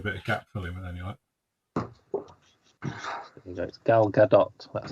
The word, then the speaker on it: Gal Gadot: should do a bit of Gap filling anyway Gal Gadot that's how you pronounce their name why what's she done Wonder